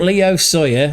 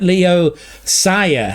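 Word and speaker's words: Leo Sauer: Not Leo Sawya or Saiya, but Leo Sia. Yeah, Leo Sia left wing. I've butchered that joke, but we'll come back to it another day.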